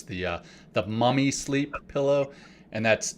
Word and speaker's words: MVMI: it's the uh The Mummy sleep pillow and that's it's spelled kind of differently than you may expect it's spelled m v m i so the V is is pronounced like a u so mummy sleep and